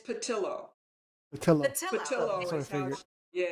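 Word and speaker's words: Pattillo: spanish accent sometimes so i want to say theo but i gather it's probably not pronounced that way it is patilla tell him yeah it's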